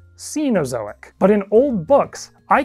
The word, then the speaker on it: Cenozoic: When talking about the present geological era, I habitually say cenosoic, but I am told that is actually more commonly pronounced cenozoic.